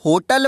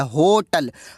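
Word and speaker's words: hotel: जब आप होटल बोलते हैं तो कैसी साउंड निकलती है? सबसे पहले है की साउंड निकलती है, होटल। है की साउंड यानी कॉन्सोनेंट, और कॉन्सोनेंट साउंड के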